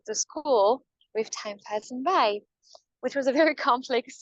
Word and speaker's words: Braille: everybody knows as Louie by although when we say this in French most people don't know how to pronounce his name actually by you guys would say Braille probably but hi you know